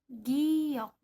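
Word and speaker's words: 기역: huruf ini namanya giok pengucapannya dalam alfabet antara huruf g dan huruf k contohnya pada kata gagu yang artinya mebel Saya tidak membacanya dengan huruf g gagu ataupun huruf k kaku namun pengucapannya di antara huruf g dan huruf k gagu kalau kita gabungkan dengan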